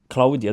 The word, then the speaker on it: Claudia: you your name is Claudia do you pronounce it Claudia yes yes in in Italian cuz I feel like uh the English version is Claudia you get do you